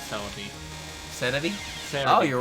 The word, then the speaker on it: Celebi: Where were you when you realized that Cerebi was just the way a Japanese person would pronounce Celebi?